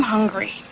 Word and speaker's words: hungry: I'm hungry. A pronúncia dessa palavra é hungry, começando com aquele H aspirado da garganta.